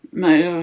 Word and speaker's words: Meyer: The other things I can show you are these devotional books by Joyce Meyer (pronounced, "Mayor/Mayer") - I think that's how I pronounce her surname (The correct pronunciation of Joyce's surname is, "Maya").